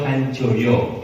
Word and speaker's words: Hanjojo: Bukan, tapi Hanjojo itu ejaan nama, yang berarti bacanya sekarang Hanjoyo, ya.